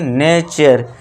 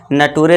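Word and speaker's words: nature: इसे क्या पढ़ेंगे? नेचर नटूरे नहीं करना है।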